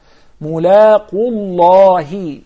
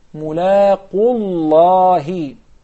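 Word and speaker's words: ملاقو الله: مُلَاقُوا اللَّهِ مُلَاقُوا اللَّهِ مُلَاقُوا. If I stop. Yes. Connect it. مُلَاقُ اللَّهِ.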